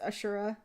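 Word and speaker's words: Asura: her pronounced his name pretty sure it's ashura if i keep pronouncing it like akira um but she's like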